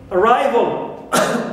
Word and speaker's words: arrival: All, like in arrival, we don't here stress vol because it is neutral, all, but we stress rhyme as usual.